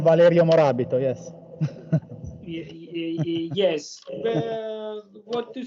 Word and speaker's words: Valerio Morabito: It's right, the pronunciation Valerio Morabito, yes.